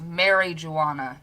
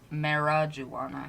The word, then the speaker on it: marijuana: eye in there marijuana there is an eye in there so it's mary joana not marajuana i was gonna say